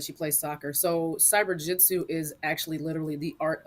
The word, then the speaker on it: CyberJutsu: all the time and they all say it wrong all the time they're like cyber jiujitsu cyber Jutsu I'm like it's just cyber Jitsu cyber jit I know